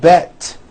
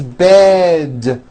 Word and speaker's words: bed: words with d endings bed has a voiced d ending it's not bet with an unvoiced T it's bed with a voiced d